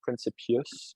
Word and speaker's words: Principius: Pour payer, ben, on le prononce un peu plus à l'anglais, genre Principius, mais ouais, tu fais bien ce que tu Principius.